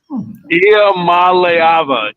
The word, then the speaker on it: Iamaleava: It's Nico Iamaleava. Nope. Iamaleava.